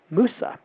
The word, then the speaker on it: Musa: are called the muses technically pronounced musa m-u-s-a musa means the goddesses